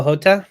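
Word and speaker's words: Jota: say left uh diogo hota to liverpool oh hot jotter right you got it sorry sorry that's yeah that's your like uh that's your portuguese pronunciation sorry i i thought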